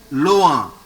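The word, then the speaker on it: loin: So how to pronounce the first word? Loa. Loa. There is a nasal sound.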